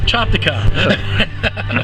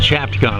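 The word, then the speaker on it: Chopticon: Chopicon. Okay. Well, there's a lot of people that pronounce it Chapon.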